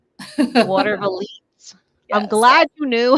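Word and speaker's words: Watervliet: How do you Water pronounce it? Water Valete. Water Valise.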